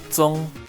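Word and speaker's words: 终: This character is pronounced Zong and translates to end.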